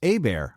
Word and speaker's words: Hebert: My name is Kyle Hebert, spelled Hebert, but it's pronounced Hebert, like, A bear is attacking me.